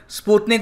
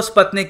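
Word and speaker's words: Спутник: इसकी pronunciation स्पुतनिक होती है रशियन में, मगर ज़्यादातर इंग्लिश में इसको स्पुतनिक कहते हैं।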